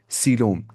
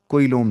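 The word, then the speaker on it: coelom: Cavity होती है उसे सीोम कहा जाता है। सीम स्पेलिंग क्या है? सी ओ इ एल ओ एम कोलोम लगता है सीम वरना ये।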